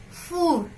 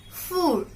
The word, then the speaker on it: four: Concentrate on pronunciation. It's not four, it's four. Le four.